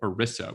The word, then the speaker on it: ERISA: to do with something called erisa which rhymes with melissa because i kept mispronouncing it and that's how i remembered how to pronounce it erisa plans so erisa